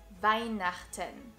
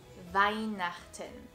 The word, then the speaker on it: Weihnachten: And of course the word for Christmas, which is Weihnachten, and which can be a bit tricky because of its CH sound, which is produced in the back of your throat. Repeat after me. Weihnachten. Weihnachten.